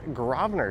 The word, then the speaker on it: Grosvenor: And we are at the western terminus of the very easy to pronounce Grosvenor Street. G-R-S-V-E-N-O-R. Grosvenor. Some would say Grosvenor, but do not say Grosvenor.